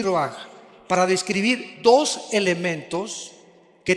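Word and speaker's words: רוּחַ: Se pronuncia roaj. Por ejemplo, cuando hablamos del Espíritu Santo, el Espíritu Santo es roaj, el kados.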